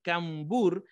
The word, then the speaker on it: cambur: cuando vamos a decir cambur suena como si estuviésemos diciéndolo con n pero si vamos a decir cambur pues de alguna manera también ubicamos esa m presente entonces por eso y